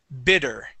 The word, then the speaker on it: bitter: Now this word here, instead of pronouncing the E and saying better, it's instead of be, it's bi, bitter.